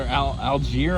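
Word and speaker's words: Allgeier: who stays healthy and Tyler algier I guess is how you say his name like the city Algiers he looks like the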